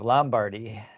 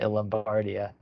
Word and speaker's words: Lombardia: Lombardy so I know Chris Warner says Lombardy the whole time but he's consistent he pronounces everything like the American way he'll always say Matthew vanderpol instead of Mato vapol and we kind of try a little bit the European pronunciation so I've been saying lombardia mostly but so I just